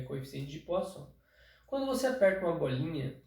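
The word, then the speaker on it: Poisson: de entender é o coeficiente de pó só se escreve p o i s s o m Poison mas na verdade LG é coeficiente de posso quando você aperta uma bolinha Quais são as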